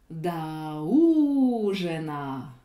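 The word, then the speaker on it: до ужина: Le mot dîner est accentué sur le ou de la première syllabe. La voyelle o de la préposition se retrouve sans accent. Comme vous l'avez vu dans la vidéo numéro 6, un o non accentué se dit a. Donc, je vais dire da ujena.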